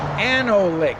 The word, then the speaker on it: Anolik: last name pronounced. Anolik, A-N-O-L-I-K.